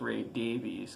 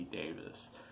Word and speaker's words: Davies: And for years and years, I thought it was Ray Davies because it is spelled Davies, but after hearing a few documentaries and hearing people talk about it, it's definitely supposed to be Davis.